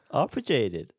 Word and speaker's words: arpeggiated: Arpeggiated.